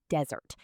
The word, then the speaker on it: desert: The hot, dry place with sand is a desert. You put the stress on the first part.